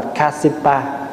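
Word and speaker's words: Kāśyapa: Phá Hòa nói ví dụ như ngài Ca Diếp, Ca Diếp là tiếng Phạn đọc là Kasipa.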